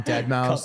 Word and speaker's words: Deadmau5: ever hear about um dead mouse the dj dead mouse um yeah deadmau5 is how it's spelled miu um he either